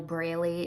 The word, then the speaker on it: Braley: You can also go to Carol Braley. It's spelled like Bailey, but with an R, Braley.